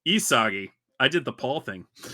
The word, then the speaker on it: Isagi: But this time the monster told him to pass the ball to Usagi. I said it wrong. Isagi.